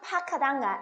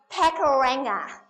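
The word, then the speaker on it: Pakuranga: And the first thing I learned was, no, it's not pronounced Pakaranga, it's Pakaranga.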